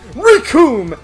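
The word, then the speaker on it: Recoome: The name's Rikum, and it rhymes with Doom.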